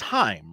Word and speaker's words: Haim: J-Man says it rhymes with name, so Heim.